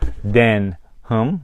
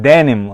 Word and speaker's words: Denham: in that a collaboration of nike and denim then hum denim or den um it's not denim okay it's not d e and i am